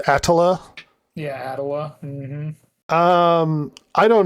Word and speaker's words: Attila: Technically, it's pronounced Attila.